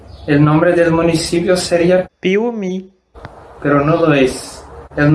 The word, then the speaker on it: Piauí: Por ejemplo, la palabra Piauí. Piauí es el nombre de un municipio de Brasil, del estado de Minas Gerais. Sin esta H, el nombre del municipio sería Piauí, pero no lo es.